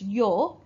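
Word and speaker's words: 様: Now the other pronunciation, which is in blue, says that this kanji is pronounced as yo.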